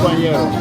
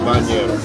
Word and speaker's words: banheiro: Or you could just say bañero. Bañero. Because, you know, they'll get you there. Yeah, you're right. The proper way to say it is that way. But if that's a little too much, bañero.